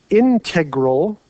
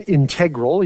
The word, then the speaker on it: integral: He's called an integral, or some people say an integral. You pronounce it different ways. If you're a math person, you'll say integral. And if you're not, you might say integral.